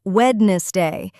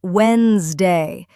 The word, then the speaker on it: Wednesday: It's not Wednesday, it's Wednesday. The D in the middle is silent.